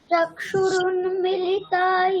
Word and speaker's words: चक्षुरुन्मीलितं: अज्ञानतिमिरान्धस्य ज्ञानाञ्जनशलाकया चक्षुरुन्मिलितं येन तस्मै श्रीगुरवे नमः। আচ্ছা, দ্বিতীয় বর্ণ চক্ষুরুন্মি, ওটা দীর্ঘ আছে, তাহলে মিটাকে একটু টানতে হবে।